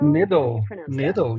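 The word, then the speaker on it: Niddel: You've been at Verizon since, how do you pronounce it? Your your ML network detection company. Nidle or Nido? Nidle.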